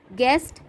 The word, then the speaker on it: guest: Guest, U is silent.